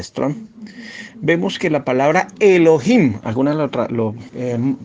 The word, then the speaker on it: Elohim: la concordancia de Strong, vemos que la palabra Elohim, algunas lo pronuncian mal Elohim, la pronunciación correcta es Elohim, ¿ya?